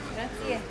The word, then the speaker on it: grazie: Grazie. You see, who need what? Grazie. What? You must pronounce the E.